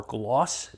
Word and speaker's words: Glaux: Next one up is the Kaiser Glawks or Gloss, depends on how you say it. The French way I think is Gloss, but we're going to go with Glawks and that's what I keep hearing on reviews.